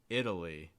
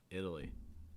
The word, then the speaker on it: Italy: it seems to be italy italy starting with the short i sound then getting a fast d sound and a schwa and then finishing with that long eye idli italy italy italy